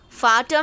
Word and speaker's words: Vater: Vater means father. The sound of V should be F for fan.